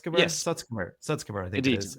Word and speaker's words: Sutskever: I always have trouble pronouncing his name. You mentioned Ilya Sutskever? Yes. Sutskever, I think Indeed, it is.